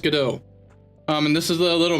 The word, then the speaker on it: Godot: Godot. What's pronounced Godot.